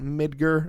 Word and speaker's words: Midgar: I think it's pronounced mid ger which looks like Midgar like you know in Norse mythology and stuff but it's from what I've said all people were pronouncing it mid ger and not Midgard but whatever and it's